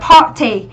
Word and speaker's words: party: Ở đoạn B chúng ta đọc từ này là party. Party thì nó sẽ là trọng âm 1, đúng không ạ?